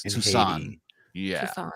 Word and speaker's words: Toussaint: movie, and since he they speak French in Haiti, so it's Toussaint.